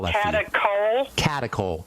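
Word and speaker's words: catechol: Ask your doctor if they know about those and I'll spell that for you. Catacol. Catakol.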